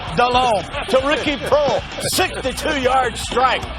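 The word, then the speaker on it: Delhomme: he can't pronounce it it's not Dale Holman it's Jake delone to Ricky Pro 62-yard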